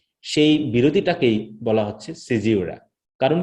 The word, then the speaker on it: caesura: প্রকাশিত, সেখানে আমরা পাচ্ছি সিজিউরা, তাই তো এরকম উচ্চারণটি, সিজিউরা অথবা সিজুরা অথবা জিউরা অথবা জুয়ারা, যে কোনো উচ্চারণটা আমরা করতে পারি। এটা ব্রিটিশ এবং আমেরিকার মধ্যে পার্থক্য।